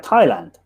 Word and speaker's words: Thailand: is always history right th didn't used to be pronounced and that's that's why yeah it's like thailand um you know we don't we don't say that we just say t we don't say thailand